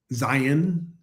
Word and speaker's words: Zion: Which, by the way, I went to Zion National Park there. Zion is how everybody tells me to pronounce it.